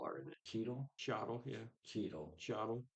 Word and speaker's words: Cheadle: And it's got Cheech Marin and Don Cheadle are in it. Cheadle? Cheadle, yeah.